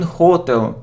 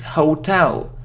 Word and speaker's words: hotel: like hotel, but it isn't hotel. No, never say so. It's hotel. Hotel, really? It's a sad fact, but even we hear it even in very popular songs. I mean, we hear the wrong pronunciation. Not hotel, hotel.